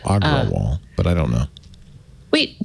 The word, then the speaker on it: Agrawal: say i'm sorry agarwal it's a-g-r-a-w-a-l so i'm saying it phonetically agro wall aggro wall but i don't know